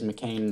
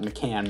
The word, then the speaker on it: McCann: fourth and final season is mccain the slot mccann my bad not mccain uh tribble not